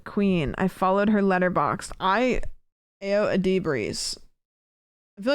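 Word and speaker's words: Ayo Edebiri: Oh, That's crazy that I'm asking how to pronounce it when literally below it, Caitlin has written out how to pronounce the name, which is Io Adibri. Io Adibri.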